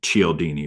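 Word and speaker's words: Cialdini: Um I think his his last name is pronounced um Chelini.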